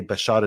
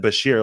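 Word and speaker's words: Bashar: have presidents like Biden who can't even say bashad Assad's name correctly like if you can't even say his name correctly I don't mean that as a there's no Gest here like he said Basher like it's it's it's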